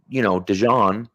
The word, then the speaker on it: DeJean: Sure, Cooper, DeJean, right, which that is the correct pronunciation, by the way.